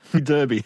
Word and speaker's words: Derby: Derby. Yeah, I know. I can hear my British counterparts abroad going, it's pronounced Derby, sir.